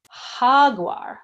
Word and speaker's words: jaguar: we would say an H so Jaguar or ha guar let's say it together hug whaaah ha guar